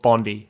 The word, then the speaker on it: Bondi: pronounced, it's called Bondi. Bondi, not Bondi.